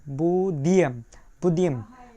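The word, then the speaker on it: будем: এবং বুদিয়াম উচ্চারণটা কীভাবে হবে? প্রথম অক্ষর আছে কি বি, তারপরে আছে উ, বু, তারপরে দেখা যাচ্ছে কি ডি, বু দি ই এম, বুদিয়াম।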